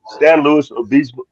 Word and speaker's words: San Luis Obispo: It's San Luis Obispo. Is how it's pronounced.